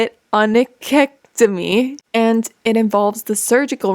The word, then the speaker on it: onychectomy: It's spelled onychectomy. I'm going to try to say it. Onychectomy.